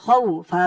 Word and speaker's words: خوف: খ দিয়ে ওয়াও ধরবে, খ ওয়াও জবর খাউ, ফা দুই জের ফিন, খাউ ফিন। অক্ফ করার কারণে এখানে উচ্চারণটা হবে খাউফ।